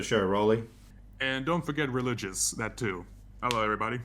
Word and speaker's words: Rolicious: His name rhymes with nutritious and delicious. It's Rolicious Arts. Welcome to the show, Roli. And don't forget Rolicious, that too.